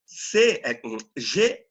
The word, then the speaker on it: gosma: Por exemplo, G-O-S-M-A. G-O-S-M-A. Como você pronunciaria? G-O seria, aqui em Portugal, esse G... G-O-S-M-A. Aqui em Portugal, esse G tem um valor de G.